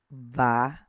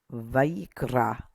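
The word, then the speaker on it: ויקרא: This one is Vayikra. Vayikra. Notice the accent mark. So we're going to emphasize right here at the R. Vayikra.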